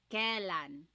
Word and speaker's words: kailan: You might hear some people say kailan. Sounds like an E, but it's technically spelled with an AI.